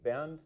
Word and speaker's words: Bernd: Germany, and my name, Bernd, it's like, think of a bear, like bear, with N-D at the end. And then you have the correct pronunciation. Okay, Bernd.